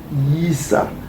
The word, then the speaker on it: Yisa: Quand vous avez le son avec Y, ça donne yi, yi, yisa, yisa, yisa. Donc on prononce yisa et vous voyez aussi avec le nom de Esaïe, ça donne yisaya, yisaya.